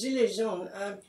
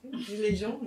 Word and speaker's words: gilets jaunes: So they were angry, and the Gilets Jaunes, which are more or less pronounced like that, Gilets Jaunes, his pronunciation has got better every time I've been in France.